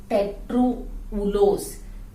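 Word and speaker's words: tetrulose: और यहां पे अगर बीच में एक CHOH आ जाए तो इसका नाम हो जाएगा कीटो टेट्रोउलोस, कीटो टेट्रोउलोस। टेट्रा प्लस उलोस करेंगे तो ए साइलेंट हो जाएगा।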